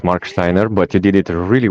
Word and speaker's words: Marksteiner: your name properly yeah I know it's a German name and it's pretty hard to pronounce it's Mark Steiner but you did it